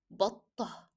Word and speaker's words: بطة: When come to duck, it is بطة. So we didn't pronounce the t at the end of the word, and instead of t, we replace it with he.